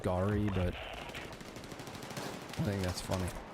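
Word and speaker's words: Geri: Except spelled G-E-R-I after one of Odin's wolves. But absolutely pronounced Gary. It's not, it's pronounced Gary, but I think that's funny.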